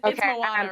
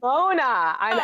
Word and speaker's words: Mona: And it's Moana, right? Is that how you say it? It's Mona. Mona. It looks like Moana. Everyone in the auditions thought it was Moana, but it's Mona because Mona is it's such a queer lady name.